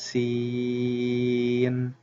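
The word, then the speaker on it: سين: For example, Sin is pronounced Seen.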